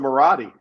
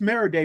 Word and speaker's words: Maradei: it right Ser hey Siri Siri calls him moradi yeah she can't even pronounce that right so when